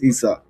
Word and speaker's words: Isa: Eddie, is it Isa or Issa? I want to make sure I pronounce it correctly. It's Isa.